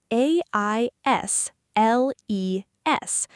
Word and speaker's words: aisles: It's spelled a i s l e s, but the letter s is completely silent. You do not say it at all. It sounds like aisles, like the word I and then a l.